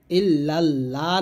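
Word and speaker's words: إلا الله: লা ইলাহা তারপর ইল্লাল্লাহু ইল্লাল্লাহ না বলে ল বলবেন ইল্লাল্লাহু মুহাম্মাদুর মুহাম্মদ গুন্না করবেন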